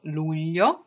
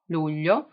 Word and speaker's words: Luglio: You may have some problems pronouncing it, but July is called Luglio. Luglio.